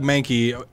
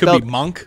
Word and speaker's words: Mahnke: my bad oh no that may not be how it's pronounced but it might have definitely monk mah nke there is a guy